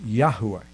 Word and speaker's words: Yahuwah: yemiyahu in casual conversation now probably a better pronunciation of the name of god is yahuwah because there is that that accentuated sound in the middle that most of us are not familiar with we don't we don't